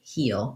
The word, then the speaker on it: he'll: First of all, knowing that what the sounds are in heel. We have a tense E sound. We have the dark L, heel, heel.